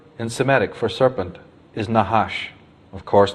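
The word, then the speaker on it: נחש: semetic for serpent is nahash of course they didn't use vowels so it's just nhsh but that is pronounced nahash and it actually means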